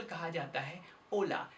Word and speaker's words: hola: ओला word की spelling होती है HOLA, जबकि यहाँ पर H का प्रयोग नहीं किया जाता, इसे केवल कहा जाता है ओला।